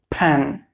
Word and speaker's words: pen: The correct pronunciation will be pen and pencil. You should be careful about the first sound, P. It will be aspirated.